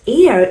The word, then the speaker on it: heir: The word heir is pronounced without an h.